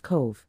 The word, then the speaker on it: Cobh: the history of Cove County Cork Island on the southern coast of